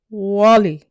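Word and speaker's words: Guale: Repeat after me. Guala. Pronounce Wally.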